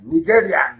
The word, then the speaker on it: Nigerian: a nigerian in nigeria nigerian that's the proper pronunciation nigeria if you want to die